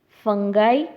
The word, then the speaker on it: fungi: So, the five kingdom classification includes Monera, Monera, Protista, Protista, fungi, Fungi, fungi.